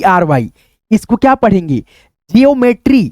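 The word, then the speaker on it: geometry: जियोमेट्री तो यहां पे हो गया जियोमेट्री।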